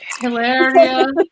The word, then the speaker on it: Hilaria: Hilaria Baldwin. It's like hilarious.